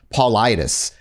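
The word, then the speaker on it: Paulides: david and i'm going to i apologize for mispronouncing his name last time his his last name is paulidas david politis i kept saying polite because it's just how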